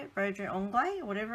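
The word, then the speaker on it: broderie anglaise: Had a little Brodre Anglais, that's how you say it, something like that, curtain on it.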